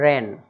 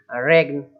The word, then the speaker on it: reign: और देख लीजिए लिखा है रेन, अब REIGN, तो GN मतलब रेगन, ऐसा नहीं बोलना, केवल रेन, शासन करना कहलाता है।